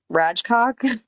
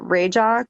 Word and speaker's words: Rajcok: It's kind of Rajcock, but they that's what I would pronounce have it, said. yeah, they pronounce it Rajak or Rajak.